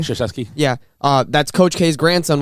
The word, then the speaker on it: Krzyzewski: Krzyzewski.